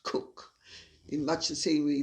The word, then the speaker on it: Coke: of leicester or the cook as it is pronounced it's spelled coke c-o-k-e but it's pronounced cook in much the same